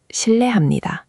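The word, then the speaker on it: 실례합니다: shil le ham ni da shil le ham ni da The ye part, make sure it flows. shil le not shil i ye Keep them connected.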